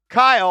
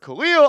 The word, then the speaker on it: Kayil: want to start with Jack Kyle, I believe is how you say it. I've heard Khalil, I've heard Kyle. I'm going to call him Jack Kyle, the guard out of Alba Berlin, the 20-year-old, 6'5, 185 lbs.